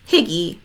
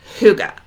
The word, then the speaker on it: Hygge: with it um no it's pronounced Huga you guys and it's pronounced that way because it's actually a Danish concept from a Norwegian word so uh not going